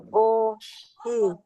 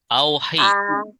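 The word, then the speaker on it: أَوْحِ: Uhi. Uhi. Bukan. Lihat Oh, ininya. ahi. Iya. Ahi. Auhi. Auhi. Auhi.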